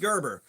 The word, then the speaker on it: Gerber: It's pronounced like the baby food. It is pronounced Gerber, which when I was